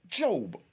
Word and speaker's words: Job: It's spelled J-O-B like Job, but it pronounced Job.